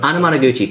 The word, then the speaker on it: Anamanaguchi: It's one of those Naguchi? Two and a half. Anamanaguchi. Sort of. Anamanaguchi, thank you. I have trouble pronouncing their name, but I like their music a lot.